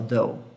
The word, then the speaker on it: though: O though, o GH é mudo na pronúncia? Sim. Tá bom? Ele é mudo na pronúncia, sim. Então você não fala, você fala até aqui, você fala though. O GH não aparece.